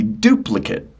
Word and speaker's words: duplicate: So the noun would be duplicate. Duplicate. And the verb is not so clear. Duplicate Kate. But I'm I'm really annunciating that last. It's not just the schwah of cut. Duplicate. Duplicate. No, no, no. It's duplicate. A.